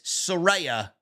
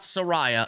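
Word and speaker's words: Saraya: came out and said you guys have been saying my name wrong it's Soraya not Soraya Soraya page or Soraya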